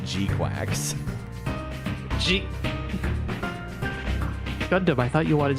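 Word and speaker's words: GQuuuuuuX: They say to pronounce it G-Quacks.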